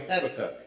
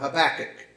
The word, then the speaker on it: Habakkuk: a bible study on habit or habakkuk however you want to pronounce it and you it's legal to do both so if however you want to do it but for uh my taste i've always said happy cut but uh we're going